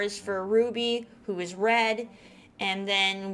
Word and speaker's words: RWBY: in the world is ruby now ruby you it's spelt rwby um but it is pronounced ruby because it's based on team ruby and each letter of